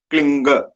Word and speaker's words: क्लीं: and as Gurudev pronounced, there are some people who have some confusion about whether to pronounce it is at kling or klim. Gurudev clearly says that the sound of G, as in girl, the sound of G should be in the end, ang, kling.